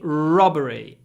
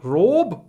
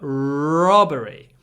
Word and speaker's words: robbery: were convicted of robbery when you pronounce this word make sure you get a long r at the beginning robbery and then a short o not Rob but robbery robbery and 270 I've read